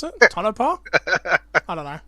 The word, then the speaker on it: Tonopah: Is that how you pronounce it? Tonopah?